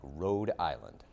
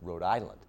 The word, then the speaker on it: Rhode Island: People from other places say it like it's an island, like Road Island, right? Rhode Island. As if like it's, you know, like, you know, Long Island like like No, it's Rhode Island, not Road Island.